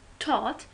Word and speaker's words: taught: And in taught, GH is silent.